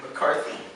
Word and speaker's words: McCarthy: McCarthy yeah great and and the emphasis is on this my car thief McCarthy right so it's a